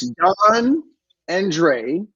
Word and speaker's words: Dondre: It's only 2 syllables. That's all. It's Dawn and Dre.